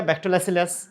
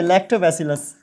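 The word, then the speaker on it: Lactobacillus: इसका एक एग्जांपल हो गया जैसे राइजोबियम, इसका एग्जांपल हो गया बैक्टोलैसिलस, है ना। ये सब क्या है? बैक्टोलैसिलस, है ना, बैक्टोलैसिलस। उल्टा भाई ये क्या हो गया मुझे, लैक्टोबैसिलस।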